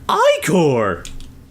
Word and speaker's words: ichor: That's pronounced Ichor!